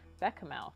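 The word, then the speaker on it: béchamel: Arush says, I think the base here is also a bechamel. Is that how you pronounce it?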